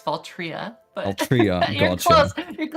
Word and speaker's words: Valtrya: to pronounce it's it's it looks like fault right it's faltria but a trio you're